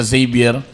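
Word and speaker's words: Xavier: mm tapos along corales ni siya unahanap sa zavier mm sa gym sa pag kwan pronounce Nuda zavier na Zavier paraosyal letter Z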